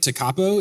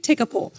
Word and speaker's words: Tekapo: Oh, I called it Lake Tekapo. Is that not? My apologies. What is it? It's Lake Tekapo.